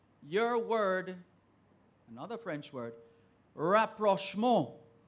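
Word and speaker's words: rapprochement: of Saint Andrew your word another French word rap Roche mode rap Rushmore r-a-p-p-r-o-c-h-e-m-e-n-t that is perfectly correct let's go to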